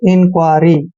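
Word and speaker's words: inquiry: यू आई आर वाई आई एन का उच्चारण इन करते हैं क के बाद जब भी यू आता है तो य का उच्चारण वहा पर व करेंगे यानी कि क य को हम को पढ़ते हैं ठीक है और आई आर वाई को आरी पढ़ेंगे ऐसे इंक्वायरी ठीक है इंक्वायरी ऐसे इंक्वायरी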